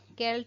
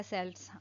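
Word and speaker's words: Celts: तो केल्ट इनको आप के्ट सेल्स आप दोनों ही प्रोनाउंस कर सकते हो। दोनों ही सही है।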